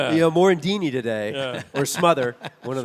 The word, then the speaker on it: Morandini: mentions my name on the radio, he goes mandini. That's all he says. Morendini. You know, Morandini today or Smother, one of the other.